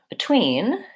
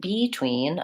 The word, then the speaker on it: between: cetera similar to that the word between I will often hear people saying between with an e vowel and it should be an Wow short and unstressed so the stress in this word is on tween that has the e green-tea vowel tween and the first file is an e like my pink pig vowel so I don't say beetween I say between between now if